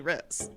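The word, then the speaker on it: Rhys: Riz or is it Reese? Reese. Okay, we're just going to do whatever we want. I will just say Reese. Okay. It's Reese. No, we can say whatever. I mean, pronunciations are up to us.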